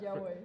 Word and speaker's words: Jia Wei: Did I pronounce that? Jia Wei.